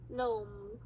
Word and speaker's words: gnome: of a word, the G is silent, so we don't say it. Here we go. Can you read these words? Nat. Now. Gnome.